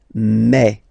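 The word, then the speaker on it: mes: aspect of it then remember that this a s here combined will give you the sound e okay so you'll pronounce it like me me me okay the so logical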